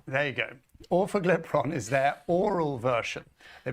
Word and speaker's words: orforglipron: It's called orforglipron. Okay. Yeah, don't ask me to do that again. I practiced for a while. It sounds like awful diphthong. There you go. Orforglipron is their oral version.